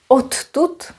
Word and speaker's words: odtud: Odtud, it's a funny way of pronouncing it, means from here, because t is voiceless, d is voiced, t influences d, d goes to t, and we end up with double t, no problem.